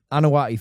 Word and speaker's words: Anoa'i: It's an apostrophe I at the end. Yeah. Anawai family, but okay, you're Samoan, and there is a bloodline.